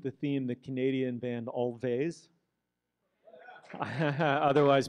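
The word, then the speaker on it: Alvvays: well continuing with the theme the Canadian band always otherwise pronounced as always but I thought I'd add a little cheek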